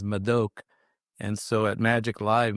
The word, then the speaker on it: Madhok: It's spelled m a d h o case it looks like mad hawk but I've heard mad dog mad all sorts of things. The correct nation is mok.